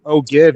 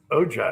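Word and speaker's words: ogive: I when it's listed on Google it says o g i e. So o give. You can say o give if you wanted to.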